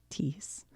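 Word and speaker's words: Teec Nos Pos: Tic nos pas. Always surrounded by a wide border and filled with an exuberant variety of motifs. Tis rhymes with geese. Tis.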